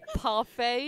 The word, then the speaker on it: parfait: let's have a strawberry parfait. Is that how you pronounce it? Yes. Parfait. Yeah, like the French.